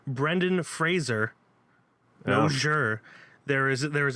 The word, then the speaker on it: Fraser: up where he says hi I'm Brendan Fraser not Frasier and if you if